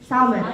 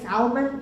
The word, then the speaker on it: salmon: allergies and the fish salmon there's no Elsa so you don't have to say Salman interesting need to say salmon ok the silent but